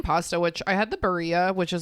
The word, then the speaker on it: Barilla: I think it's Barilla because it's Italian.